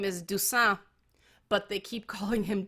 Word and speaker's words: Dusan: his last name is Dusan, but they keep calling him Duchesne or Dushan. They keep saying douche instead of deuce. There is no CH. His name is spelled D-U-S-A-N, and they never call